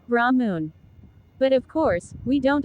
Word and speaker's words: Brahman: In terms of how you pronounce it, it's Brahmun.